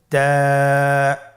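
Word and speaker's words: تاء: আপনারা আমার সাথে বলুন তা আবার বলুন তা এর মাখরাজ কোন জায়গা থেকে জিহ্বার আগা সামনের উপরের দুই দাঁতের গোড়ার সঙ্গে লাগিয়ে উচ্চারিত হয় আপনারা আমার সাথে আবার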